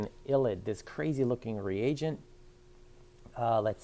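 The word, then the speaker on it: ylide: illid this crazy looking reagent let's see what should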